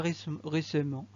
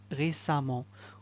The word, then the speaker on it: récemment: Le mot, le suffixe E et E2M, ENT, lorsqu'il vient, on le prononce amont, comme récemment. On ne dit pas récemment, on dit amont, récemment, comme le deuxième exemple, violemment, la deuxième phrase.